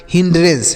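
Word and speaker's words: hindrance: को अलग ठीक है तो एच आई को पढ़ेंगे ही एन और डी को पढ़ेंगे आधा न और ड तो इसे पढ़ेंगे हिंड उसके बाद आर ए को पढ़ेंगे रे एन सी ई को पढ़ेंगे श आधा न और स तो ये हो गया हिंडरेंस क्या होगा बच्चों हिंडरेंस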